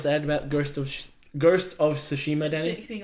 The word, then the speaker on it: Tsushima: The T is silent. Yeah, Tsushima.